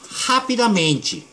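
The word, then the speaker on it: rapidamente: 그 다음에 자, 여러분들이 항상 이 R 발음을 스페인식으로 발음하는데 이 앞에 있을 때는 어떻게 발음된다 그랬죠? 그렇죠. 하피다 멘치.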